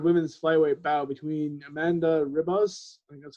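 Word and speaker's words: Ribas: the main card women's flyweight bow between amanda ribbus that's how you pronounce her name where's it who's going up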